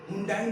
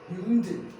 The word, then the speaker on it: Hyundai: तो वैसे ही हुंडई नहीं है, दैट्स हुंडई. हुंडई, हुंडई. क्या? Hyundai. क्या? That's Hyundai. That's a Hyundai means that is a Hyundai.